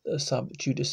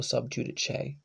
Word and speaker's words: sub judice: That's the sub judice rule, or sub judice, whichever way you want to pronounce it. These Latin words is probably judice in actual Latin, but you know, got in when Latin was turning into Italian, pronounced more judice, whatever way you want to say it.